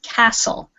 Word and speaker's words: castle: Okay, it has a T in the word, but it is a silent letter. This is castle. So it sounds like this.